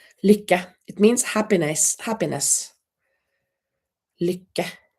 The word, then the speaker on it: lycka: Kathy said, how do you pronounce lycka? Lycka. Lycka.